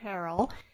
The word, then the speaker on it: Harrell: Is that how you Harrell, pronounce it?